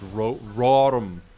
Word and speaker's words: Rotom: Let's take Rotom. I've heard people say to me, Jake, it's Rotom. Rotom. It's like Rotom. It's like Hillary Rodham Clinton.